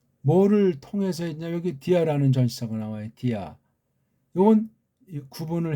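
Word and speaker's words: διά: 아가 구분 있는 발음이에요 디 아 두음절 짜리예요 두음절 전치사가 보통 한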